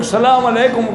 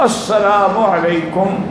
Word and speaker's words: السلام علیکم: نمازیں پوری پڑھیں گے۔ ہم میں 90% لوگ سلام علیکم کرتے ہیں، بالکل السلام علیکم، اصل جو صحیح تلفظ ہے السلام علیکم ورحمۃ اللہ وبرکاتہ، الف لام کے بغیر۔ انشاءاللہ مرنے کے بعد